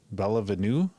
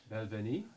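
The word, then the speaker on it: Balvenie: I hate having to pronounce this Bella Venue. I think that's what it's called there. 12-year-old. Belvenie. Belvenie. Oh, yeah, Belvenie. Belvenie instead of ooh.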